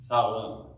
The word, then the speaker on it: Shalem: Now, verse 18, and they came to Shalem, it said, or Shalem. Probably you've already figured out by the way that's pronounced. A lot of times that SH is pronounced as S, Salem.